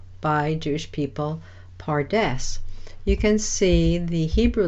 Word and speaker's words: pardes: you can listen carefully you can hear that it is the same as our English word paradise and this is in